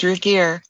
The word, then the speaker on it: Ragir: Is that how she pronounces it? Ragir. That's correct, Ragir.